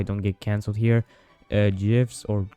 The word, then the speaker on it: GIF: get cancelled here, uh GIFs or GIFs, however you want to pronounce it, I don't care. It's J I F. It's always been that way.